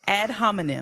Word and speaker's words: ad hominem: Ad hominem. Is that how you pronounce Yes, it? ma'am, it is. Ad hominem.